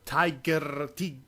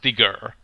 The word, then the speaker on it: Tigger: He thought, nobody can stand up after Tiger. It's pronounced Tigger.